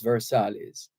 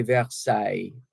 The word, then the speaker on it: Versailles: hotel Versailles is actually Versailles v-e-r-s-a-i-l-l-e-s the two L's combine to give you a y sound and the S at the end is not pronounced Versailles after days of